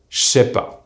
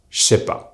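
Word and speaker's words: j'sais pas: NE so Jjj and the sound Sss from the word SAIS becomes SH. This is why we say SHAI PAS. Again, JE NE SAIS PAS is pronounced J’SAIS PAS.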